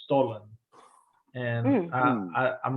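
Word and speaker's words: Stollen: different than what we have here it's called stolen and I I'm not sure the spelling it's maybe it's s-t-o-l-n um but I mean it's pronounced stolen and you know it's a loaf um more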